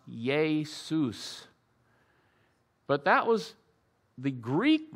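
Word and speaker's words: Ἰησοῦς: written in Greek and the word Jesus is pronounced yay Seuss but that was the Greek name for the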